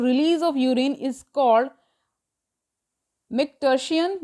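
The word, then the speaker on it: micturition: of urine is called Mick टर्सिन या यन जो भी पढ़ लीजिए उसको एंड द न्यूरल ठीक स्पेलिंग इसकी एम आई सी टी यू आर आई टी आई ओ एन है ठी मिट Hsien and the neural mechanism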